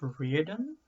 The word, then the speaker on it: Riordan: Now, a slightly less known fact, is that the author, Rick, I think it's pronounced Riordan, didn't stop there.